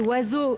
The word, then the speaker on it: oiseaux: que le bo précédent je donne un autre exemple oiseaux les lettres toutes les lettres de ce mot ne sont pas prononcés comment vous faites vous